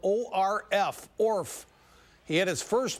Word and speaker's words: Orf: That's spelled O-R-F, Orf.